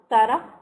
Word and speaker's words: Tara: Tara or Shara? Tara. This is how it is pronounced, Tara.